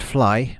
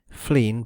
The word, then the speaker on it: Flegne: In times past, Flegne next Sea, pronounced Fly by the natives, Flegne by etymologists, and Flegne by the rare intrusive Cockney, had doubtless been a